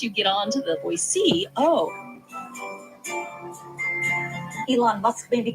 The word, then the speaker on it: Boise: And I do think in Idaho, like if you say Boise, you haven't been here very long. And once you get on to the Boise, oh, that's how locals say it, that you're sort